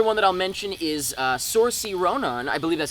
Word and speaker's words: Saoirse: The only other one that I'll mention is Saoirse Ronan. I believe that's how you pronounce her name.